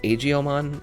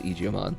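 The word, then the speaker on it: Aegiomon: Also, they say Agiomon in the dialogue of Time Stranger. I am holding true to that being incorrect as far as pronunciation goes. So, you will only be hearing me refer to it as Eijiomon.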